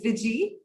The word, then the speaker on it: Viji: Yeah, you can pronounce my name as Viji.